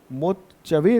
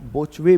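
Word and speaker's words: Botchwey: इनको इसका जो उच्चारण है ना मोचवे भी कह देते हैं और बोचवे भी कई जगह आपको देखने को मिलेगा। ओके?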